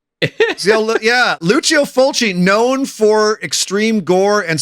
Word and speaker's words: Lucio Fulci: My my prompt was uh was Italian filmmaker Luchio Fulchi.